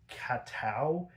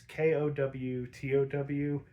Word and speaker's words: Kowtow: I assume it's this way so it rhymes. The bat's Katow. It's Kowtow.